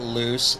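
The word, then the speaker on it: Luce: The fact that loose and oh Jesus Christ, we dive bombed qualifying, and the fact that loose L-U-C-E and loose L-O-O-S-E are pronounced identically is kind of a happy accident.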